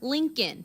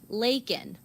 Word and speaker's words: Laken: Critics pointing out he called her Lincoln instead of Laken.